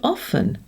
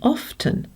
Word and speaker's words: often: As the verb is 'to say' In the word 'often' we used to pronounce the <t> 'often', and some people still do.